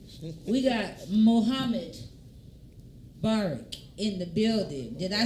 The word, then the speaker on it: Mubarak: We got Mohammad Mubarak in the building. Did I say it right? Mubarak.